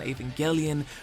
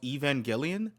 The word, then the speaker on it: Evangelion: theory you've seen on Aangelion, for every YouTube video. Bro, that's a bro, that's another movie I wanted to watch that I was requested to watch this e Well, it's pronounced Evangelion.